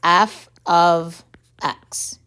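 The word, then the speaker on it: f(x): f parentheses x notation which is pronounced as f of x the letter f is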